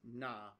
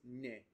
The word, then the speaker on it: 那: That's not right. Typically this na is ne, ne, ne. Is usually how it's pronounced, or even ni, ni is really common as well.